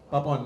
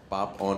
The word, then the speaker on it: पापोन: told me this clearly, आपके नाम का प्रोनाउंसिएशन क्या है, कैसे बोलते हैं? Very nice, पापोन। पापोन ना, पापोन। हाँ, तो कुछ लोग पैपोन बोलते हैं, but जिसको जो मर्जी, लेकिन वैसे पापोन है, पाप ऑन है मेरा।